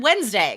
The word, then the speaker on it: Wednesday: um and then also the word wednesday because again same thing right we don't we don't say it like it's written um and that's why